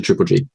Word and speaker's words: Triple_Gz: as well, all under Triple G. Triple G. And how do you spell that? So my Twitch is triple_G with a Z, but the Z is silent.